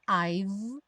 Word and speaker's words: I've: o rarará no T, e o I've, parando o som no V, já que o E não é pronunciado.